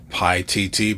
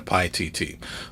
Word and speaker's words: Paititi: don't make that mistake i'm just going to go with this pronunciation pi tt okay so comes in